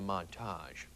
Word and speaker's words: montage: headlining the 14th stage you americans like to call it a montage we frenchies however say montaur letting the syllables linger in our mouths like a tender baguette